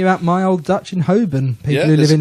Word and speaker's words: Holborn: Holborn.